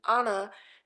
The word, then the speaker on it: Anna: top of the mom, Anna, sorry, the correct pronunciation, Anna, being like, give me a miracle.